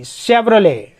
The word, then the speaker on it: Chevrolet: फिर CHEVROLET, शेवरोले, शेवरोले, शेवरोलेट एक गाड़ी है।